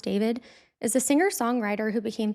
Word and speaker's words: D4VD: David Anthony Burke, known professionally as D4VD, pronounced David, is a singer-songwriter who became famous in his late teen years.